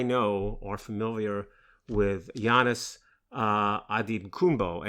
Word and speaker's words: Antetokounmpo: familiar with Giannis Antetokounmpo, and I'm pronouncing that last name in the Nigerian way, perhaps not the way you've heard it before, but Giannis had made clear, now this is Nigerian pronunciation, not the Greek pronunciation.